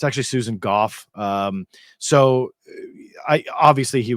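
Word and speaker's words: Susan Gough: and um that's obviously most people call her Susan go I had to increase my screen size here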